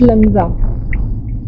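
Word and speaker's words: Langza: एंड हां अच्छा लंगजा लंगजा इट्स लंगजा यस चलो चलते हैं।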